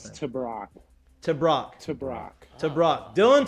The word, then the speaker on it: Tebrake: pronounce it can you tell me how to pronounce this to brock to brock to brock dillon to brock creighton